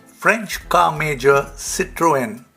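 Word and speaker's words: Citroën: french car major citroen or as the french pronounce it situan will be unveiling a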